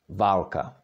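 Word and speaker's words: válka: how about this one there is long and short ah can you try to pronounce that Valka and it means a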